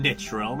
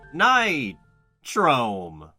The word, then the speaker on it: Nitrome: before this game where we can officially confirm that it's pronounced night chrome i guess i was